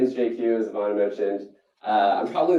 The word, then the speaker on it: Jay Kiew: times my name is JQ as mentioned uh I'm probably the only person you'll ever meet who can pronounce his full name in just two letters uh JQ kind of like Jay-Z but uh I'm not